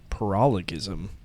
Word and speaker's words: paralogism: I heard somebody say pronounce it uh paralleism. It kind of seems more right, but I'm going to stick with paralogism.